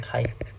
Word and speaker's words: chi: chi라고 읽잖아요. chi square test. 오케이, 카이라고 하면 카이. 그리스 문자 카이 square test.